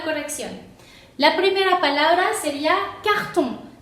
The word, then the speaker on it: carton: La primera palabra sería carton. Carton, porque tiene el sonido on, sería carton, sonido nasal.